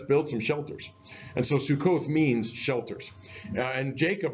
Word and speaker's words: Sukkot: the soup crock so Sukkot is the Hebrew pronunciation of that and the reason I